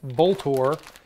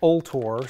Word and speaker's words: Vltor: which i've talked about this before and i pronounced it bolt or somebody posted a comment on that other video and said that they called the phone number and the recording pronounces it all tore so that's what we're working with go ahead